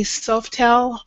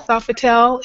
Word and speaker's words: Sofitel: in san francisco at the san francisco bay softel um hotel is that the correct pronunciation kathy yeah it's a sofa town sofitel and that's november 7th through 10th and it